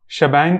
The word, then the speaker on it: shebang: ई और फिर बैंग तो बहुत लोग समझेंगे शी बैंग है लेकिन इसको ऐसे नहीं प्रोनाउंस किया जाता है इसको हम शबंग कहते हैं और इसी का नाम